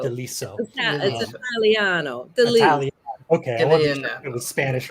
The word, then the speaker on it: De Liso: wonderful deliso do I have that I pronouncing that correctly right yeah deliso deliso Italiano okay it was Spanish or Italian actually